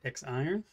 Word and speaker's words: X IRON: The Vaporesso X IRON, or Z-Ron, depending on how you pronounce it. Looks like it's X IRON.